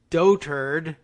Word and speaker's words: dotard: this one with you is pronounced dotard like dotard which is appropriate for